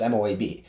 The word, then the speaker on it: MOAB: I think it's pronounced just MOAB.